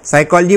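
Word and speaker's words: psychology: तो के साइलेंट है साइकोलॉजी बोलते हैं तो पी साइलेंट है लेकिन हिंदी में जो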